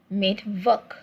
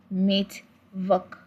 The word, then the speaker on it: Mittwoch: Now, note that in German, letter W is pronounced as V in German. More reason, each time you see W in a word, you pronounce it in form of a V.